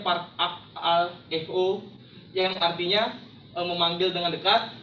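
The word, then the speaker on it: παρακαλέω: Bahasa Yunaninya memohon itu adalah parakaleo, atau dalam pelafalannya parakaleo, yang artinya memanggil dengan dekat, memohon menjadi baik, keinginan, dan atau enggak berdoa.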